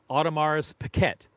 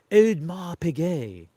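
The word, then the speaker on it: Audemars Piguet: A odmar pig or as Adrienne would say Ottomar's Pquette. Adrien of Luxury Bazaar says Ottomar's Pquette. I don't think it's Otto. I think I pronounce it Odmar Pigay in British and Odmar Pigay.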